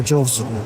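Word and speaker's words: Chorsu: 6 है, ये O, ये जो P है ये R है, ये C एंड ये जो Y है ये U की तरह प्रोनाउंस होता है। तो चोरसू, this is हाउ I actually survived in Kazakhstan and Uzbekistan.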